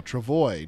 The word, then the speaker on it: travois: it's pronounced to avoid the S on the end is silent hmm so travois not true voice boy